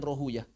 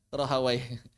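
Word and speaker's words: Rahawayh: Cuma kata ahli hadis, kata ahli hadis pelafalan yang paling tepatnya sibuyah dan rohuyah. Cuma kata ahli fikih yang paling tepat sibawa dan rahawai.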